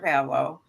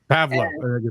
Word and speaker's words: Pavlov: my High School Mr Pavo Pavo don't pronounce the V pav yeah and then